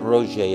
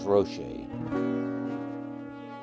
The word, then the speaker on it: Rocher: I said Roger, and it was Rocher. Rhymes with crochet.